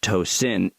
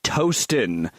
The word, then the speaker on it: Tosin: Yeah, that's how her name is pronounced. It's Nigerian. She said, if you ever say my name on the show, it's pronounced Tosin. It's Yoruba, Nigerian. I'm not assuming you'll butcher it, but somehow people will repeat it back as Toastin, really, to my 37-year-old face.